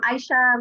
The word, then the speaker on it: Aisha: Is it Aisha? Aisha, yeah. Aisha, like eyeshadow.